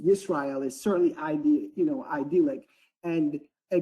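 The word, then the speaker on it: ישראל: the name Israel, or I guess in the Hebrew tongue would be pronounced Yisrael, is definitely idyllic.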